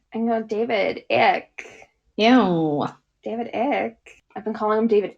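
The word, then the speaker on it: Icke: And it's a conspiracy theory popularized by David Ick. Yeah. His last name is spelled IC ke.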